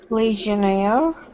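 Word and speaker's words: legionnaire: legionaire Le legionaire yeah that word is difficult legionaire there you go one more time legionaire legionaire excellent okay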